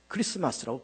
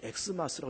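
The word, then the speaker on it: Xmas: 그 X는 영어가 아니고 그는 헬라어입니다. 키, 알파벳 키로 시작하면서 크리스토스 시작하는 그 첫 글자를 이제 키를 써서 크리스마스라고 그렇게 쓰고, 그것을 엑스마스라고 읽으면 안 됩니다.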